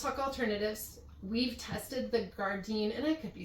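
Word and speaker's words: Gardyn: We've tested the Gardine, and I could be saying that wrong. It's G A R D Y N. It seems like it's pronounced garden home um model.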